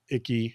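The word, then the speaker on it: Icke: the way developed by a British guy named icky his last name's icky David icky I think I'm pronouncing that right no yeah you are he's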